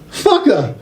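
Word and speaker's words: faca: It's spelt F-A-C-A. But it's pronounced fucka.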